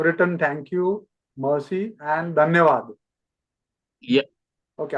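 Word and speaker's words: धन्यवाद: And in the last slide, you have written thank you, mercy, and dhanyavad. Yeah. Okay, how do you pronounce that dhanyavad?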